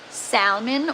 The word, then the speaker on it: salmon: I guess you could like salmon or coral. I don't know why I pronounced the L in salmon.